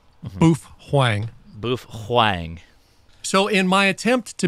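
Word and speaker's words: Baofeng: movies have a guy with a with a bow Fang strapped on their arm or their shoulder and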